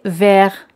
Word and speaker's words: vert: Verde se dice vert. T al final siempre no se pronuncia.